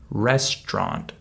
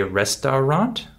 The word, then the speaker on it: restaurant: middle syllable ch chocs just like with the word restaurant we don't say restaurant we say restaurant we skipped the middle syllable uh due to the